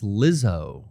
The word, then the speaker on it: Lizzo: jizzo song yep rumors you're saying it wrong it's lizzo i don't know if